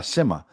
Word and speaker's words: Simha: Yeah, Simha.